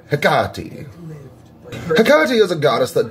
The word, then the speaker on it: Hecate: incredibly technical about it, the proper way to say her name sounds something a little bit more like Hecate. And since almost none of us are doing that, shush. I'm saying Hecate.